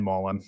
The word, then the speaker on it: Mullen: Ryan Mullen, I mispronounced his name last week. Been working on it all week since. It's kind of like Dan Mullen, our old football coach over. It'll be easy to remember.